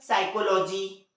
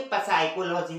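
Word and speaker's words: psychology: जैसे साम, है ना, साइकोलॉजी। ये साइकोलॉजी की स्पेलिंग यहाँ से चालू होती है पी से। पढ़ना क्या चाहिए था उसे? पसाइकोलॉजी। लेकिन पसाइकोलॉजी पढ़ते हैं नहीं। क्या पढ़ते हैं? साइकोलॉजी।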